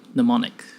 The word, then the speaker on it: mnemonic: Same Greek root as the word mnemonic. The M is silent. In her bag, her phone beeps again.